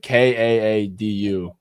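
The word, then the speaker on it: Kaadu: Kadu, how do you how do you pronounce it? It's like K A Du. Kadu Kadu. I think it's Kadu.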